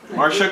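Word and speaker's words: Marcia: you about Marsha uh so Marsha it's spelled m a r c i a Marsha CLA Pearson founded Seattle's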